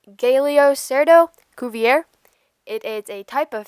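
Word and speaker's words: Galeocerdo cuvier: cool group of animals its scientific name is pronounced galio cerdo Cuvier it is a type of fish and carnivore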